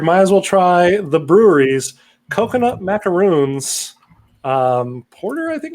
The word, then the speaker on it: Bruery: The brewery. Oh, the brewery. Yeah. Okay. But it's spelled just that one. Yeah. Okay. Well, it's called the brewery, but it's BRUERY. Oh, clever.